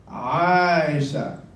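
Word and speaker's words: عائشة: Aisha. No, it's not Aisha. It's Aisha. Aisha.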